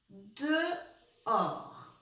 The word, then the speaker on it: dehors: Alors, pour écrire le mot dehors, c'est donc 2 syllabes. Dehors. De, j'écris D-E. Et pour écrire or, rappelez-vous, il y a une lettre muette, c'est le H. Le son or, OR, y a un S qu'on n'entend pas, comme dans beaucoup de mots outils.